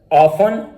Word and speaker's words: often: Castle, फासन, listen, ऑफन, thistle, whistle.